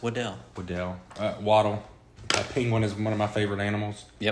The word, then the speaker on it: Waddle: Apparently it's pronounced Waddell.